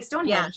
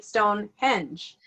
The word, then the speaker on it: Stonehenge: we're from America and we say Stonehenge and they say Stonehenge yeah they say different their accent is on the second syllable where ours is on First and it's with every